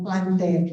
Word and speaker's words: plantae: Ang tamang pronunciation daw ng plantae ay plantae, no? Yan, yung AE daw ay E lang talaga, no? According to classical Latin, no?